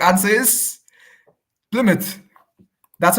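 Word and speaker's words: Plymouth: Mark okay uh drum roll correct answer is plmouth that's how you pronounce it right pouth yeah pouth yeah f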